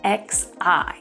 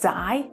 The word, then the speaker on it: xi: The first one is XI. Now this can be pronounced as Xi or as Xi.